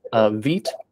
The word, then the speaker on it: Vite: that it is quick their official pronunciation is that it rhymes with sweet um and it was